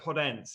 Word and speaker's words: Podence: Back to Podence, yeah. Annoyingly, there's no accent on the E, so I might have to revert back.